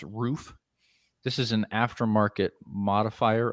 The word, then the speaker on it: RUF: don't know ruth yes it looks like ruff but it's pronounced roof this is an aftermarket